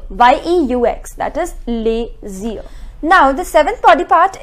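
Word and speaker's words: les yeux: instead we have a different word with the pronunciation LAZIER, YEUX, that is LAZIER.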